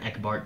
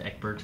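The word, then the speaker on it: Ecbert: It's easier to go from Eckbart to Eckbert.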